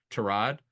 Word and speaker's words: Tyrod: correcting people he said the correct pronunciation is trod yeah but pretty good